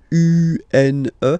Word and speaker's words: une: Then the feminine article is here, and it's easier because if you have this U, N, E, then you pronounce it une, une.